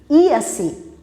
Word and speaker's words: Jaci: Se escreve com J, se pronuncia em português Jaci, mas na língua Tupi-Guarani, Iaci, Iaralaci.